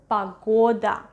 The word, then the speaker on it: погода: So in this case, the vowel O is stressed, so we are going to pronounce it as O, погода. But what happens to this one? Exactly, vowel reduction, that's why we read it as A, погода. We write down O, but we pronounce it as A when O is not stressed.